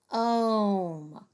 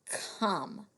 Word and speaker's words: come: But when I see the silent E at the end, I really want that O to say its name. Comb. That's not right. What about come? I bet a lot of you were saying that because I introduced our snap words already.